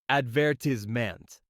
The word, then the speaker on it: advertisement: For example, advertisement in American English is pronounced advertisment with emphasis on the second syllable.